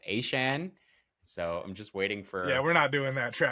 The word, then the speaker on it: Etienne: Uh this is the same week that we also had what we thought was Travis Etienne say that he prefers there that it's meant to be pronounced A chain.